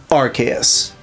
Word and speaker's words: Arceus: It is undeniably Archus because that is the official statement from Pokémon.